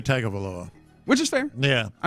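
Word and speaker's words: Tagovailoa: it's not spelled but if you ask the Man how he pronounces his name he says tongo Vala he does and I also say tag of aloa which is fair yeah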